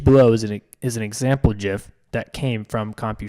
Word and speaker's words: GIF: for what the jiff isn't one very first jiff was it was that was a picture with